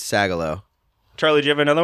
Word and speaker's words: Sagalow: the episode brendano said my last name wrong how would you have said it I don't know I went sang along singular it's sagalo Charlie do you have